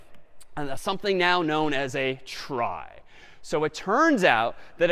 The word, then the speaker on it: trie: a fancier tree and it's short for retrieval but pronounced try for weird historical reasons but a try is